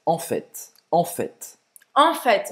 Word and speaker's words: en fait: En fait, en fait, en fait. En fait, E você vai então. pronunciar o T, né?